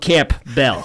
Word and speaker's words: Campbell: It's literally spelled Camp Bell. It is, but it's usually pronounced Campbell. I don't know why I found that's a good one. All right. The P is usually silent.